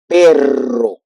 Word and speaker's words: perro: So anyway, so here we have the reason why you will need to put the double R in order to make that pronunciation when it's between vowels. Perro.